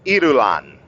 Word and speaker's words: Irulan: Irulan. God, I can't speak right now. Irulan is how you say her name.